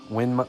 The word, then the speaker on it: Winmau: It's spelled Winmau. Winmo, but it's pronounced Winmo.